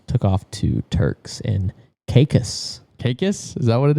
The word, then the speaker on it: Caicos: And he said, "Most Americans say it Turks and Caicos, but we say it Caicos."